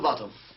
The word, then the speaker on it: Botham: Little Botham, sir, but it's spelt Botham. And it's pronounced Bottom.